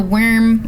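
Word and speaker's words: Wyrm: No, worm. It's spelled... No, Sentinel Worm. Yeah, that's how you say it. They spell it funny.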